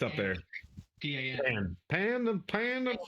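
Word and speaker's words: pain: P-A-N. Pan. P-A-I-N, but it's pronounced pan.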